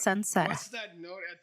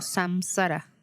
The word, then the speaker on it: saṃsāra: Por favor, no pronuncies eso como samsara. Ese es un error. Sobre la M con un punto debajo. M con un punto debajo no es M.